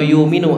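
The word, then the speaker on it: يُؤْمِنُ: yanmu atau yu'minun atau yuminu afan. Yuminu. Yuminu ini artinya apa? Apa makna yuminu? Yuminu ini yu'minu, ya. Ada kalau hafaz bacanya yu'minu dengan hamzah. Kalau misalkan di qiraat lain dia bacanya yuminu.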